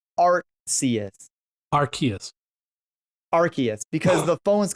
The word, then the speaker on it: Arceus: Amy told me it's not pronounced Arceus because you have the Arc phone. So Amy says it's Arceus.